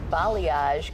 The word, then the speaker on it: balayage: but it looks like balayage could be on its way out. Oh, no. My daughters always make fun of me that I say this wrong. No, that's how you say it.